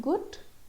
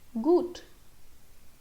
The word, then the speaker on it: gut: It's not gut, gut. Yeah, there's a difference. Gut, gut. So it's gut.